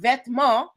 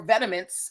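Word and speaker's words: Vetements: This word vetma or vetiments as as Americans like to pronounce it means clothing in French.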